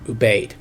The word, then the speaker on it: Ubaid: And the pronunciation on that is not 100%. I've heard it pronounced both ways, but most people that I've heard actually talk about it use the term Ubaid.